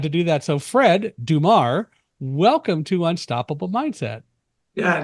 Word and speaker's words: Dummar: It is pronounced Dummar or Dummar? Dummar. Dummar.